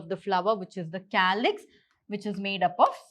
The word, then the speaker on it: calyx: So what they have done is, according to the pronunciation, it's K. So calyx, K.